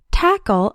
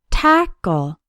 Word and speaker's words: tackle: The letter A in tackle has the A sound, like in the words tap, cat, and pack. Tackle has 2 syllables, and the stress is on the first syllable, tackle. The second syllable sounds like a short ul, like in pull.